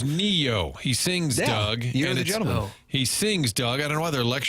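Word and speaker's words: Ne-Yo: It's pronounced Neo.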